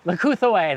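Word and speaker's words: Leucothoe: Leucothue, that's how you say it.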